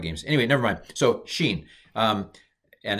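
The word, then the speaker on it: שׁ: a sh sound and with the dot on the left it's a s so sh sh sh s sheen sheen feel like i'm playing um those old atari games anyway never mind so sheen um and it's sha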